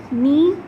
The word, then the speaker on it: knee: Knee, in spelling of knee there is K, but we don't pronounce K. We just say knee. K is silent here.